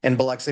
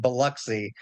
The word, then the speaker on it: Biloxi: I teach in Biloxi, Mississippi. And if you take nothing else away from what I'm saying here, please know that it is pronounced Biloxi and not Biloxi like outsiders tend to do.